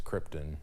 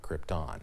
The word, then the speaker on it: Krypton: It's Krypton, not Krypton.